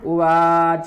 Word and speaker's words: उवाच: उवाच संजय संजय उवाच उवाच वही पढ़ना है च का का पूर्ण उच्चारण उवाच और यह बा नहीं है वा वा संजय उवाच